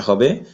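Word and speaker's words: ح: ঠিক আছে তাহলে আমরা এটা হা ছোট হা চাপ দিয়ে পড়তে হবে আমি হরফের পরিচিতির সময়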